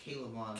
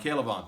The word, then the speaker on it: K'Lavon: How do you pronounce it, John? I think it's K'Lavon. K'Lavon, thank you.